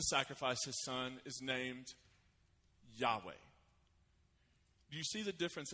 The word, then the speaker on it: Yahweh: In Hebrew, it didn't have vowels, so it would be really hard to pronounce. But it's the name Yahweh.